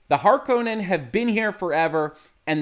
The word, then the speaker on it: Harkonnen: And yes, I know I'm going to pronounce this wrong. It's been Harkonnen in my head forever. The movie pronounces it Harkonnen. It might come out both ways as I talk about it in this video.